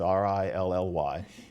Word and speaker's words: really: We don't even pronounce it as real-ly. It's "really." It's R-I-L-L-Y.